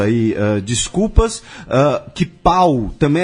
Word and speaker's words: Pau: Eh, em Catalun tem duas maneiras de dizer Paulo, pau e pou p O L. E inclusive ã tem um hospital que é o hospital Santa Cru e São Paulo, que é um nome de um funk inclusive, né?